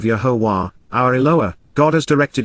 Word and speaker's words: Yahowah: and yield fruit, of Yahowah, Yahowah, the proper pronunciation of Yehovah, our Eloah, God has